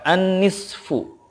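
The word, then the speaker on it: النصف: Nah, ketika waqaf, sodnya itu disukunkan, fa-nya juga disukunkan, tetapi suara fa itu tidak zuhir banget gitu, hanya sedikit saja. Contoh gini, an-nisfu, kalau waqaf dibacanya menjadi an-nisf, an-nisf gitu.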